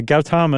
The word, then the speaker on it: Gautama: Is that the pronunciation you used? Yeah, Gautama is everything I saw.